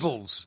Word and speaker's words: Robles: due to Mike Parry not being able to pronounce his own goalkeeper's name properly. What are you on about? Damn it, ridiculous. Robles.